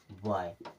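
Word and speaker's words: boy: भी वर्ड दिया हो अगर ओ के बाद में वाई आ रहा है तो उच्चारण कैसे करेंगे य की तरह करेंगे अगर इनसे रिलेटेड एग्जांपल्स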